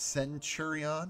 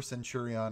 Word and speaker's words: Centurion: it just feels right i believe it's centurion you know like century but uh if i'm